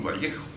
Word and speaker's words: Vallejo: Vallejo. Y uso una pronunciación arequipeña para recordar un gran escritor, Vallejo, ¿no?